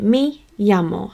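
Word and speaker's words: me llamo: I will teach you how I pronounce it which is a yet sound so I pronounce it me yamo so me on its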